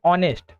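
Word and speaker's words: honest: ऑनेस्ट इसको क्या पढ़ते हैं? ऑनेस्ट।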